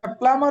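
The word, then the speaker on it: plumber: নই আমি না আমি এখানে এটা বিয়ের উচ্চারণটা হবে না প্লামার হবে এটা নামার বি উচ্চারণ হবে না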